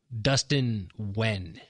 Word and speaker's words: Nguyen: Come on out and meet 21 Jump Street's Dustin Nguyen. I think actually that's Dustin Wen. Thursday, from 9 o'clock to 9:45. Dustin Nguyen. His name is pronounced Wen.